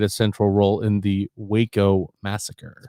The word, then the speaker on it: Waco: central role in the waco massacre pronounced wacko it's pronounced wacko but then i heard